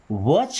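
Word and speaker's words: watch: वॉच carefully. क्या बोला था मैंने? सी एच के पहले टी आ रहा है तो टी साइलेंट होगा।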